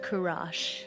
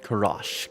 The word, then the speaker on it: Kurash: His name is pronounced Kurash. Kurash.